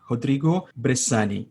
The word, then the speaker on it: Rodrigo Bressane: i want to make sure i am pronouncing your name correctly rodrigo bersan yes the way we say it in brazil is rodrigo brezani that would be the brazilian way of saying it but that name which